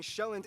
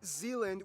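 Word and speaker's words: Sjælland: inhabited with the largest island being sheland not Zealand which is not to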